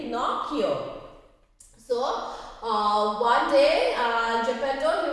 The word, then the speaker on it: Pinocchio: Today we are doing a new chapter of English 2, Pinocchio. P-I-N-O-C-C-H-I-O is pronounced as Pinocchio.